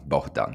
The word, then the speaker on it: Bohdan: Bohdan. Yeah, like that. It's I feel like there's certain Polish bits to that pronunciation, but yeah, it's entirely Ukrainian name for sure.